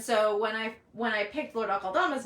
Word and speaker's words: Akeldama: So the origin of Lord Akeldama's name is Akeldama, which I think actually is pronounced Akeldama, but I'm not sure on that because I don't speak Farsi among any other Persian root languages.